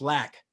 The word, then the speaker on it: Lac: doc spiders and they never told me it's pronounced lack they've been coming on our show for a